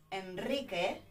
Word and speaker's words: Enrique: En el nombre, Enrique, we've got a strong R as well, because we've got consonante, consonant, and a vowel, una vocal, afterwards, right?